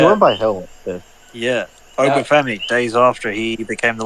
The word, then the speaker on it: Oba Femi: The NXT North American Championship match between Tony D'Angelo and Oba Femi.